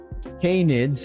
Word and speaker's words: canid: It was kind of annoying that us canids and oh my god, I'm searching this pronunciation right now.